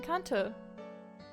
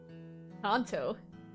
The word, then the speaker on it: Kanto: Is it, how's it pronounced? Kanto. Kanto. Kanto. Kanto. No way, she's from Pokemon Gen 1! How do you actually pronounce it? I don't want a British pronunciation! Okay, I guess it's Kanto.